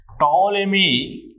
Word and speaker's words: Ptolemy: This theory was proposed by Ptolemy, where P is silent here. Ptolemy in 2nd century. This theory given by Ptolemy in 2nd century according